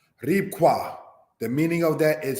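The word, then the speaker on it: רבקה: Rebecca, said as Ribqua. Ribqua, the meaning of that is flattering.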